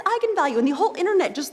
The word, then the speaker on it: eigenvalue: came out because apparently it's pronounced eigenvalue that's how you're supposed to say I'm the director don't bleep me the fing director told me to say egon value and it's eigenvalue and the whole internet